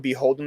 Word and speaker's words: BHLDN: I remember that one time they had do you know what Beholden is?